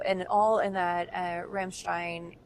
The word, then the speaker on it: Ramstein: yeah and so and all in that uh Ramstein Ramstein area if you want to pronounce it properly I always felt so dumb